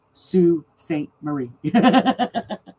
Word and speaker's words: Sault Ste. Marie: It's pronounced Soo Saint Marie.